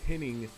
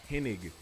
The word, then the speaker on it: Hennig: most wrestling fans remember commentators calling mr perfect kurt henning instead of pinnig his last name is pronounced hennig to be honest that's